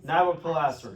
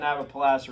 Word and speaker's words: Nabopolassar: I don't know how to pronounce it. That's what it is. Nabopolassar. Nabopolassar, yes.